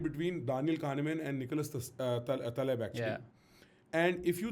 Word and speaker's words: Taleb: There's a debate between Daniel Kahneman and Nicholas Taleb, actually.